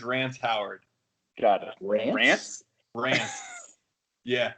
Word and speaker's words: Rance: Rance. Yeah. How do you spell that?